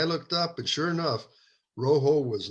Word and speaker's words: Rojo: The J is pronounced as an H in Spanish because rojo is a Spanish word for red.